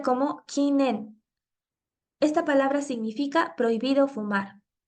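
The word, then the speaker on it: 禁煙: está escrita con estos dos kanji que se pronuncia como kinen esta palabra significa prohibido fumar en solitario o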